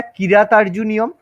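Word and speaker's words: কিরাতার্জুনীয়ম্: হ্যাঁ, আচ্ছা দেখো, অ্যাকচুয়ালি কথাটা কিরাতার্জুনিয়ম, কয় হস্যই রয়াকার, ঠিক আছে? এগুলো নিয়ে মাথা ঘামানোর কোনো দরকার নেই, ঠিক আছে?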